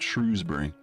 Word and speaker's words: Shrewsbury: It's called Shrewsbury. If you live in Shrewsbury, you call it Shroesbury because you're posh. I think that's how you pronounce it.